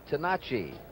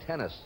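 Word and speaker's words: Tenace: He says the correct pronunciation is Tenacci. Fury Gene Tenacci is his name, but he has anglicized it now to Gene Tennis.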